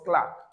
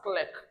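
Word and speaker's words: clerk: r that gives us cler. Many persons do think that word is pronounced as click. There is no such pronun pronunciation as what? Click. All we have is cler.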